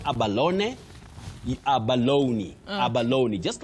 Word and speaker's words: abalone: That e at the end is not it is not silent. It takes that sound e that is the high front sound e. So you say abaloney. Abaloney. After saying aba you have a stress low then abaloney. That is the way to pronounce it.